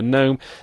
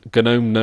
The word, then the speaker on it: GNOME: my KDE review before I did my gnome gnome I'm just going to call it gnome okay gnome review uh I did my gome review second